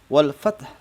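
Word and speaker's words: الفتح: Bila wakaf suara fat ya, fat yang dimaksud ini adalah fat maka cara membacanya ditekan dan diikuti bunyi ha sukun dengan suara yang rendah. Jadi ketika waqaf maka masih terdengar suara ha sukunnya ya. Karena dia waqaf maka huruf terakhirnya disukunkan dan huruf terakhir adalah ha. Huruf ha ini tetap terdengar suaranya rendah saja cukup ya, seperti itu.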